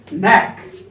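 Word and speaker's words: knack: So first word हमारे पास है नैक, के एन ए सी के। ओके दोस्तों, जब भी एन के पहले के आता है तो उसका उच्चारण नहीं करते हैं, ओके दोस्तों, कोई भी वर्ड हो हमारा।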